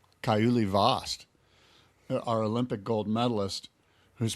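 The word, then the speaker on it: Kauli Vaast: Kaiuli Vost, our Olympic gold medalist, who's proven he can surf in anything.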